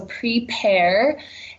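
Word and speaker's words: Prepear: is our new app it's spelled like the fruit PE AR so prepare and it basically takes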